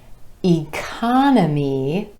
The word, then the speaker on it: economy: So for example, economy, economy, emphasis on the second syllable and the ah vowel sound, changes when we add the IC ending and becomes economic, economic.